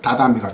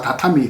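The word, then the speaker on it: たたみ: 우리의 입장에서는 왜 돗자리 우리말인데 이것을 일본말로 바꾸면 다다미가 됩니다. 다다미. 정확한 발음을 하면 다타미 해야 되겠죠.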